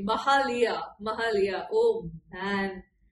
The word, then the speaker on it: Mahalia: Let me pronounce her name correctly. Mahalia.